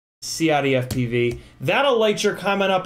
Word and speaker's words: CiottiFPV: Not just Ciotti. Not just. Not. Not. Not. CiottiFPV.